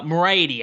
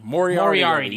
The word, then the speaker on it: Moriarty: fish versus lee uh marietti i think is how you pronounce moriarty moriarty you like the sherlock holmes villain oh mario yeah moriarty